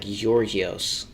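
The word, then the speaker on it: Γεώργιος: uh from Giorgios, but I'm almost positive it's pronounced like Yorgios, like with a Y, but it's like a sort it's like a Y that's teetering towards a G, like like that, like Gorgios.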